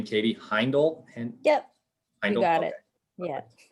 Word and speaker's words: Heindel: later so i'll just edit it out but pronunciation of your last name katie heindel yep you got it yeah appreciate that yeah